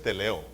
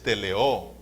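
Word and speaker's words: τελέω: No es teleo, es teleó con acento en la Así se dice, teleó.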